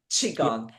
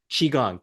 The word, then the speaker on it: Qigong: How do you pronounce that? Qigong. Qigong.